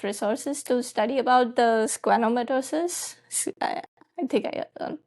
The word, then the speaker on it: schwannomatosis: Did you find enough resources to study about the schwannomatosis? I think I pronounced it correctly.